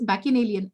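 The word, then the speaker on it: bacchanalian: is Ban alien okay this is dis uh pronounced as bin Alan anyone bin Alan uh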